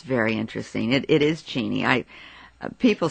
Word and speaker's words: Cheney: I said Uncle arv is it cheny or is it Cheney and he said my dear it's Cheney and I said oh